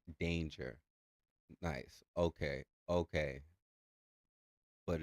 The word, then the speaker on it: D4NIJAH: Oh, and Rap God said it's pronounced danger.